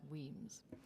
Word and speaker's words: Wemyss: So his middle name is written Wemyss, but is pronounced Weems.